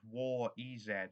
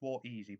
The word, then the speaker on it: War EZ: We have War EZ, or Warez, as someone once pronounced it. Yes, I know it's War Easy, but I'm British.